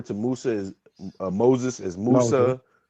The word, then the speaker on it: Musa: Um you know yeah Jacob uh we refer to Musa as Moses as Musa.